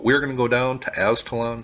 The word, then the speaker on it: Aztalan: gonna go down to Ascalon State Park and I think that's how it is pronounced I've heard it pronounced a few different ways but this is along